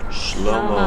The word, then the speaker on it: Shlomo: If you say it in Hebrew, how do you say? Shlomo. Shlomo.